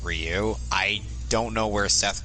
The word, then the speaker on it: Ryu: sense of their story the Japanese version pronounces it for you the English version pronounces it Ryu pretty much every nation out there pronounced as Ryu I don't know where